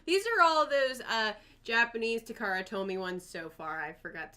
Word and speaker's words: Takara: Am I saying it wrong? I thought it was Taraka. I mean, I have dyslexia, and so does It's Takara. Oh, it is. I always said Taraka Tomy.